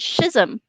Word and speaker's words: schism: the word that is spelled s-c-h-i-s-m how do you pronounce that who's them one more time i couldn't hear you schism okay that's how i've always pronounced it too and earlier tonight someone pronounced it schism i've heard that one too but that sounds like a bodily fluid to me it does